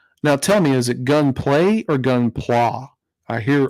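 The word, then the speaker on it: Gunpla: pla like pla or play with Y I mean I know it's spelled g-u-n-p-l-a but is it pronounced play like play with a y or play with a plot okay pla there we go um so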